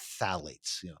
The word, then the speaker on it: phthalates: I pronounce it too, but it's actually pronounced with the T, phthalates.